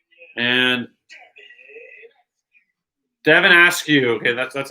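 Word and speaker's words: Devin Askew: back into the tunnel tyrese maxi and devon asks you okay that's that's how you pronounce his name so now he's showing devon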